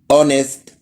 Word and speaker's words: honest: لا، حرف الاتش ممكن ما يتنطقش لو جاي بعديه حرف الاو. زي ايه؟ تعالى اوريلك زي ايه. honest, ghost, our. هتلاقي هنا حرف الاتش ما اتنطقش عشان حرف الاو جاي بعديه.